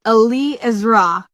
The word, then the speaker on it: Eliezra: from you on uh on the correct uh pronunciation okay well the correct way to say it is Ali isra you really emphasize the two different Hales and